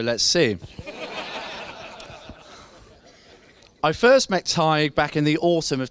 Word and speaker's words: Tadhg: Once I got past the introduction of how to pronounce his name. For those who don't know, it's Tiger without the I quickly moved on to some jokes. Unfortunately, I was unaware of Tadhg's sexuality at this exact